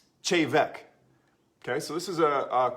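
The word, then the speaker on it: Té Bheag: it looks like tea bag it's like it's teh bag it's actually pronounced shave Eck okay so this is a cool a cool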